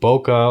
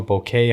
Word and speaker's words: bokeh: the on portrait mode the bokeh or bouquet however you want to pronounce it the background blur does